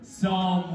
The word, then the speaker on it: psalm: Psalm 136, 1. It's pronounced psalm. No, there's no P. Like, just act like it's not there.